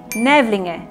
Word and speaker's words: Nävlinge: Nävlinge, thank you.